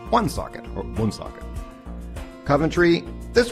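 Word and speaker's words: Woonsocket: socket is another one I thought it was wound socket but that is of course very very wrong and it's one socket or one socket Coventry this one I hear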